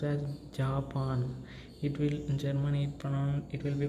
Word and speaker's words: Japan: not be pronounced as Japan. In Germany it will be pronounced as Japan, right? Ja means it gives the pronunciation of ya, right?